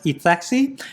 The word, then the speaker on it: ETHXY: So right over here, it's always hard to pronounce, okay? ETHXY, so I pronounce it as ETHEXY.